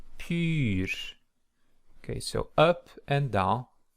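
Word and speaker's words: πῦρ: Just remind that the little het over epsilon there in pur, it means that the stress goes up and down. So pur, pur.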